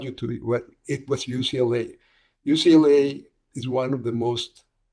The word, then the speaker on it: UCLA: You know, in Spanish you tend to pronounce every letter. So there's a word called "ucla."